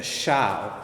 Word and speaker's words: xiao: instrument called the um the xiao the shao is spelled x i a o and they're they're gorgeous